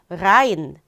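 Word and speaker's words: rein: 아인데요.이 아인을 그냥 아인이라고 발음하지 않고요. 라인 에아를 붙여서 라인이라고 하면은 안으로라는 뜻이 조금 더 강조가 돼요.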